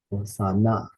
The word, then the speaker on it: Hosanna: oil in water next Hosanna trust that third syllable nah oh Sana